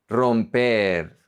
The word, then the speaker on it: romper: And then when the single R is at the beginning of a word, it's pronounced like a double R. You roll the R. Real, real, real. Romper, romper, to break.